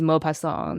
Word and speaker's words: Maupassant: I'm pretty sure his last name is Maupassant. That's how you say it.